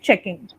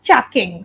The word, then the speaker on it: checking: yeah this one yes so once you pronounce it as chucking so there was an a sound instead of e so be very careful about it yeah checking okay checking